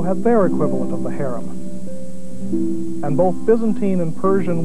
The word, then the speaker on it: harem: forbidden is haram and the related word harim or as we pronounce it harem refers to the inner